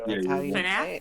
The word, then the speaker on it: FNAF: F FNAF I don't yeah FNAF that's how you say it it is FNAF okay well either way